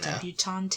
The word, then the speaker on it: debutante: She's a debutante, she's just come out, Debutante, is that how you pronounce it?